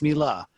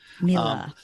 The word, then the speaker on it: Miele: our listeners tweet out us saying it's not M it's Mila Mila Mila the German uh high-end cooking appliance company